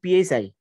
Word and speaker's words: psi: and pi equals to this is psi okay this pi uh pronunciation will be psi half log 10 pi